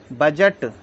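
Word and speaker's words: budget: आई डी जी इसको हम पढ़ेंगे Braj D silent बजट बी यू डी जीई टी बजट इसके बाद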